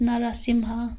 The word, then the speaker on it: Narasimha: So for example, Narasimha, it's actually pronounced Narasimha, but in the mantra we use Narasimha.